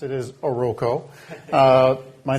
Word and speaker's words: Oroco: we all pronounced it is oroco my name is uh I am